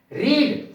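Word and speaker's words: read: है रेड पढ़ जाएगा इसको आर ई एडी और फर्स्ट फर्म को स्पेलिंग सेम रहती है लेकिन प अलग अलग जाता है रीड फर्स्ट फॉर्म को पढ़ा जाता है सेकंड और थर्ड फॉर्म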